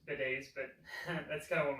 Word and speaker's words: bidets: that the toilets and the sinks and the bitters in the ladies room yes i went there